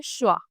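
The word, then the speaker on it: schwa: और यह हीरो है इंग्लिश प्रोनाउंसिएशन का और इसका नाम है श्वा।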